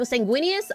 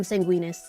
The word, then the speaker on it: Sanguinius: Okay, you know Sanguinius. Am I even saying Sanguinius right? I am like do not call him Sanguinas. Please don't call him Sanguinus. His name is not Sanguinus. Unless it is, and I'm wrong.